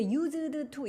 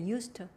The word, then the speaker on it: used to: 근데 used to 이렇게 발음 안 해요. used to 아니고 그냥 used to 이렇게 발음해.